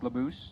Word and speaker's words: LeBouse: It's actually pronounced like, it's pronounced LeBouse, like caboose, but LeBouse.